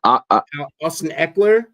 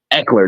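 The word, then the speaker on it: Ekeler: Austin Eckler. Eckler.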